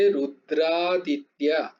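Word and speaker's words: रुद्रादित्या: হবে রুদ্রা রুদ্রা আদিত্য রুদ্র এবং আদিত্য তো কথাটা দুটো মিলে হয়ে গেছে রুদ্রাদিত্যা রুদ্রাদিত্যা বাসব রুদ্র রুদ্রাদিত্যা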